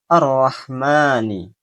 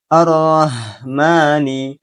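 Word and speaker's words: الرَّحْمٰن: yang terdapat pada kata arrahmani. Dengan membaca huruf ha menjadi huruf ha. Ha ha ha di pangkal tenggorokan. Arrahmani. Arrahmani. Arrahmani. Padahal huruf ha. Letaknya di tengah tenggorokan.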